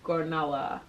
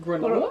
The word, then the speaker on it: granola: That word and Gornola. Gornola? What is that? Granola?